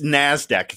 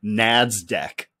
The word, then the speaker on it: NASDAQ: uh just uh NASDAQ it's NASDAQ it's not nad's deck no no I said